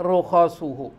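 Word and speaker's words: رخصه: ruksahnya ruksah itu dijalankan rukhas itu jamak ruksah kitabun jamaknya kutub ruksah jamaknya rukhas nah ini bacanya rukhasuhu jadi Allah suka kalau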